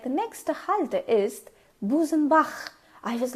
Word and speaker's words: Busenbach: In English, if you try to pronounce the word, it's Busenbach. B-U-S-E-N-B-A-C-H. It's Busenbach. It's not k, it's it's like, you know, you're trying to spit.